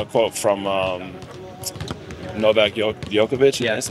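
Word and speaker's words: Djokovic: I actually saw a quote from um Novak yovic that's how you say his name and he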